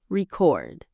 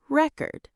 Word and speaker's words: record: Take the word record. As a noun, we stress the first syllable record. As a verb, we stress the second syllable.